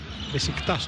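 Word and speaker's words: Beşiktaş: Μπεσίκτας όπως το προφέρουν οι Τούρκοι.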